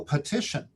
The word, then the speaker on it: petition: read petition, I can guide them to flex that first vowel in the first syllable to the long E sound, to the schwa sound, not the long E, they read the long E, to the schwa sound, and the student goes, oh, petition.